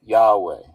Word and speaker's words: Yahweh: So the actual so it's four four nouns four nouns yod he vav he and then that that is pronounced in in the west as yahweh.